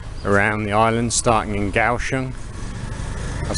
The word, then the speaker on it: Kaohsiung: Like I said, I'm going to go clockwise around the island starting in Kaohsiung. I've said Kaohsiung quite a few times recently cuz I forget the K is pronounced as a G.